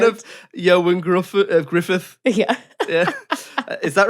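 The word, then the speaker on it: Ioan Gruffudd: your hardest i'll try i even googled the pronunciation of johann gruff griffith yeah yeah is that right yeah johan griffith yeah that's right anyway solomon gainer so spoil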